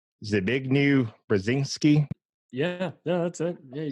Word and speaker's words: Zbigniew Brzezinski: by, I can never say his name right, Zbigniew Brzezinski.